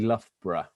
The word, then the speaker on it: Loughborough: So the easiest way of pronouncing Loughborough, so nobody is embarrassed, is actually Loughborough. So, or pronounce Loughborough if you prefer.